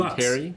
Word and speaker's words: Bonteri: Bonteri? Lux Bonteri, yes.